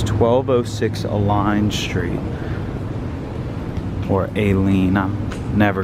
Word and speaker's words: Aline: Smith's office here today we're checking out 1206 a line street and that's actually how it's pronounced I've mispronounced it about five times in